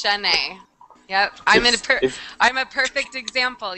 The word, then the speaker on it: Chenay: But it's Shanae. It's Shanae. Yep. I'm a perfect example. Yes. My name is spelled CHENAY, but it sounds like it should be SH.